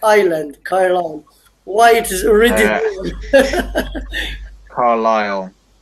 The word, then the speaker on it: Carlisle: not pronounced like island kai-lan why it is written Carlisle yeah it's it's like it's similar to the pronunciation is in Ireland the the S is silent this s is silent